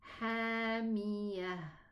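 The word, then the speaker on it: حامية: And the last one here with the ta marbuta, it's going to be hamiyah or hamiyatum bismi. I pronounced it a ta when I connected.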